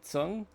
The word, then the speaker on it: Tzeng: God, you know what's funny, Jeff, is that I recently started to uh go by the traditional pronunciation. So that is actually that's how I pronounce it. Oh, really?